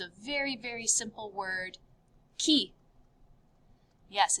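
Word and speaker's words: qui: very very simple word key yes it's spelled with a q u but the q u in french is pronounced like a k sound not a qu sound so this is pronounced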